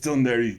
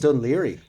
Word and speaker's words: Dún Laoghaire: Shout out to Dún Laoghaire. Thank you for those expressions. Dún Laoghaire? Dún Laoghaire.